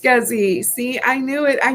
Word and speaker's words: SCSI: um um we talked about and it is pronounced scuzzy see i knew it i knew that it's had a cute little uh let's do this watch this scuzzy isn't that something yeah scsi now i know